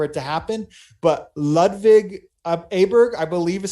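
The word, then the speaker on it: Åberg: just waiting for it to happen but ludwig ayberg i believe is how you pronounce it upberg would be the correct way um a golfer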